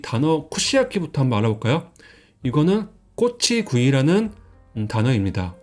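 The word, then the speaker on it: 串焼き: 그래서 이 땅 잃은 곳 같은 경우는 쿠시라고 읽어가지고 꼬치를 말합니다. 이 모양이 꼬치하고 모양이 비슷해요. 그 다음에 이 오른쪽은 불사르 소라고 해가지고 야키, 그래서 구이를 말합니다.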